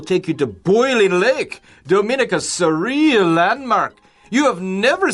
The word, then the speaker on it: Dominica: for some people it's easy to just call it Dominica like the Dominican Republic but I think most people would prefer or choose to pronounce it as Dominica well now how